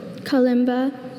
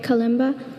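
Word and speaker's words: kalimba: Are there any alternate pronunciations? There's Kimba and Kimba. Calima. K A L I M B A. Calima.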